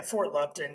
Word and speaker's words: Fort Lupton: because is it Fort Lupton or am I mispronouncing that yeah Fort Lupton yeah so Fort Lupton Colorado and then man